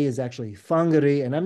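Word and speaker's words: Whangārei: with a wh uh that wh is pronounced as an F so toari is actually tarui uh wangari is actually fangar and I'm not to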